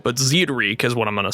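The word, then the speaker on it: Zied Rieke: playay aspect from inod Zed reek I put it on on Google Translate to see if I'm going to say it right but Zed reek is what I'm going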